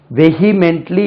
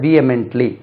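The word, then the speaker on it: vehemently: தீவிரமாக these the proposal வெஹிமென்ட்லி என்று சொல்லக்கூடாது வியமென்ட்லி தே அப்போஸ் த ப்ரோபோசல்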